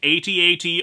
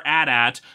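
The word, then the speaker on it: AT-AT: have any arguments about pronouncing it 8080 or adat both are legitimate just as much as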